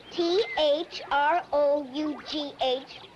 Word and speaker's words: through: yesterday you said that th ro ug H was pronounced through so why is it